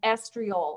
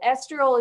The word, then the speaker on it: estriol: if you've got a pan handy for 0.5 estriol and i'm going to spell it for you e-s-t-r-i-o-l so estriol esterol is the only safe estrogen and just put